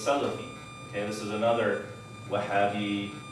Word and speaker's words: Salafi: He's like, "Are you a Slophist?" I'm like, A Slophist. And I'm like, what is that? And he just keeps, Slophist, he keeps saying it. He's mispronouncing it. So it's Salafi.